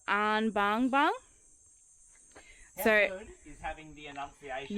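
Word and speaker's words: Anbangbang: you say it the lower area is called an Bang Bang so is having the enunciation yeah I really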